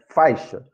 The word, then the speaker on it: faixa: Porque senão vai ficar fa e chá. Não, é faixa. A pronúncia é faixa.